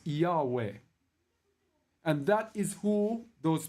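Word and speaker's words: Jove: That Yahweh, J-O-V-E, J-O-V-E is pronounced Yahweh.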